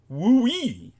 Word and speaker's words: WUI: textbook Wildland Urban interface or wui pronounced wooe those are the places